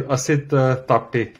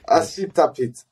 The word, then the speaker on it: Asit Tapte: I don't know if I pronounced in a good way your name. Yeah, it is Asit Tapte. Asit Tapte.